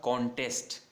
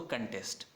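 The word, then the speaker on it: contest: तब इसका प्रोनाउंसिएशन होगा कॉन्टेस्ट। देखो जब वर्ब है तब कंटेस्ट कै ए की साउंड है स्टार्टिंग में, और जब ये नाउन है प्रतियोगिता तब क्या बोला जाएगा, कॉन्टेस्ट।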